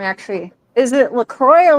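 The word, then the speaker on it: Lacroix: Is it Lacroy or L? That's not Lacrosse. No, it's Lacroy, right? Is it C R O I X?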